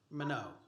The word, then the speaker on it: Minot: How do I pronounce, is that Minot? Minot.